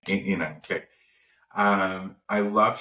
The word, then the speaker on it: Enan: And I want to keep making sure that I'm pronouncing the name right. Yinan? Yinan, right. Yinan, okay.